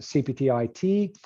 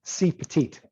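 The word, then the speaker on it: CPeT-IT: people will pronounce it cptit but john put that lower script e in there so it's actually pronounced c petite so it's a sort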